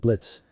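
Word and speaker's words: Blitzø: a long time ago blitzo said the suubi looking through her Shades at Blitz first it's Blitz the O is silent and second I haven't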